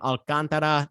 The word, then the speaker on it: Alcantara: pitcher sandy alcantara uh that's how you actually say his name alcantara not the not the white americanized version alcantara it's alcantara but uh you know it's